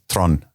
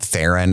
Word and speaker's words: Theron: I think that's how you say it in the South African way. Theron, I think. I've talked to I've said it wrong enough on the internet a bunch enough times where a lot of South African people have reached out to me like, "It's kind of like Tron, but with a rolled R."